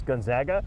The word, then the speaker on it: Gonzaga: trying to tell somebody how to pronounce gonzaga we spoke with gonzaga's president yesterday and he said just think about it they zig we zag okay yeah you know